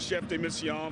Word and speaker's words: chef de mission: at home who don't know, you are the chef Dim Michon. Is that right? At for the US Olympic team. Am I saying it right? That's correct. I was the chef de mission for the US delegation uh that was in